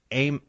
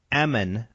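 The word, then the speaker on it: Ehman: scientist his name was cherry aim or Eman I think is how you say it circled it and he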